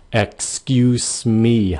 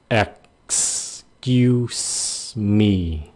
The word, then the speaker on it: excuse me: Khi các bạn phát âm cái chữ excuse me, các bạn phải cho cái cổ họng đứng lại chặn cái hơi sau khi cái âm ẹt nha. Ẹt. Cái xong rồi, mi xì nó ra.